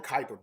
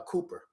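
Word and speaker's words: Kuiper: or something happened um it's called the Kyper belt and he keeps calling it the uh Cooper but maybe there a pronunciation of it from his uh country but it's a Kyper belt right and a Kyper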